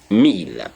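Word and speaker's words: mille: talking about and so learn to say meal don't say Emil because in English you say one thousand you try to put the one you have it wrong and so in English in French you don't say the E you don't say a a meal no you say meal meal is a thousand just for one they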